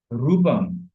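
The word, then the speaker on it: রূপম্: রূপ, রূপ ক্ষেত্রে আমরা দীর্ঘকার ইউজ করি, রূপ, রূপম। যেমন মা, যখন মায়ের বন্দনা যখন করা হয়, রূপম দেহি, ধনম দেহি, তাই না, এরকম যখন উচ্চারণ করা হয় রূপম, এভাবে রূপম স্পষ্ট করে উচ্চারণ করতে হবে এবং দীর্ঘ করে উচ্চারণ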